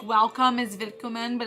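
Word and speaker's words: Willkommen: are like welcome is vicomin but it's spelt like wilkoman but it's pronounced with a v even though it's a w that kind of stuff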